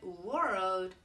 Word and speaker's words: world: of the times when students try to say world they say Road or they say work but world they cannot say so I'm going to teach